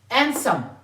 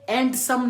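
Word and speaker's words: handsome: स अल्फाज है सो एंड समम यह एंड सम नहीं है जो हम लोग कहते हैं खूबसूरत यह एंड सम नहीं है एसम एडसम यहां पे डी क्या है साइलेंट है एंड समम सैंडविच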